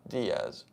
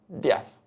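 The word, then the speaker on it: Díez: dth it's dth so there's an accent on the I if you pronounce it correctly the same thing is di not death you see sounds slight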